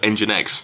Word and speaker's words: nginx: ng inx web server which is otherwise known as engine x engine x well that's